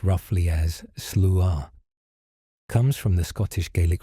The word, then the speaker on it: Sluagh: The Slooh, pronounced roughly as Slooh, comes from the Scottish Gaelic phrase Slooh Namab, which translates directly to host of the dead.